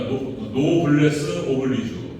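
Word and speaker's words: noblesse oblige: 그래서 이제 노블레스 영어 프랑스어 그러니까 노블레스 오블리주 프랑스 발음인데 영어식 발음으로는 노블레스 그러니까 축복을 받지 못한 자에 대한 오블라이지 그러니까 책임, 의무 이런 뜻이에요.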